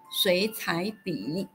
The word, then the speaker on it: 水彩笔: Thus, the whole three character word is pronounced as 水彩笔.